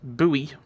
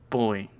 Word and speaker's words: buoy: Scottish accent says buoy rather than boy. In a way, that annoys me more than an American saying buoy. Actually, an American saying buoy I'm not really bothered about. That's the American pronunciation.